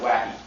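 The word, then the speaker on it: WAIK: I'm not sure how they want you to pronounce that acronym, but I'm going to pronounce it Wacky.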